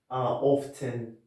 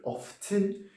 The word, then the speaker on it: often: Often, there are two pronunciation. You can say it's British people say, they say often, and you can say often as some American guys. But both options are correct.